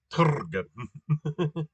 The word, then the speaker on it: trg: Um, has no vowels in it, and the pronunciation doesn't have anything that's remotely even like a vowel. It's trg. It's see proof that syllables don't have to have vowels.